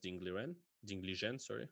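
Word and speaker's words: Ding Liren: me to play against Ding Li Zhen, which is the right way to pronounce his name.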